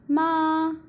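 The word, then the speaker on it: 妈: so it is called neutral when assailable is pronounced in different tones it has different meanings for example ma in the first stone ma means mother and ma in the third tone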